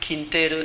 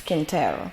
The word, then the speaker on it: Quintero: Thank you for having introduced me in the correct way, because usually the Ghanaians, when they pronounce my name, they say Claudia Quintero Turbay, and I keep saying no, please, it's Claudia Turbay Quintero.